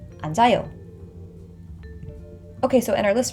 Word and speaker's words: 앉아요: And again, this 지읒 carries over into the empty vowel, so the pronunciation becomes 앉아요. 앉아요.